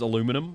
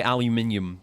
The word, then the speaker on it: aluminium: Aluminium versus aluminum. Well, I'm not American. Hence the the where's Wall-E thing. So we say aluminium in this house even if they decide to spell it wrong in the game.